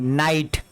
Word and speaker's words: night: ठीक है, अगला देखिए NIGHT, नाइट, NIGHT, नाइट, यानी यहाँ पे भी देखिए GH का हमने उच्चारण नहीं किया।